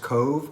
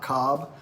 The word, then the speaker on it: Cobh: Here in Ireland, in spite of its spelling, this port town is actually pronounced Cove, not Cob.